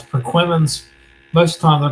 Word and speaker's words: Perquimans: Have a person pronounce Perquimans. Most of the time, they're gonna pronounce it Perquimans and Manamus.